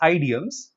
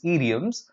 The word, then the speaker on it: idioms: next would be idioms so this word is not pronounced ideals the correct pronunciation is idioms this simply means more